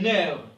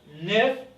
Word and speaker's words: nerf: On ne dit pas neuf, on dit nerf. F ici ne se prononce pas.